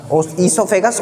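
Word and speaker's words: oesophagus: ईसोफेगस ओ से start होती है लेकिन ओ साइलेंट होता है।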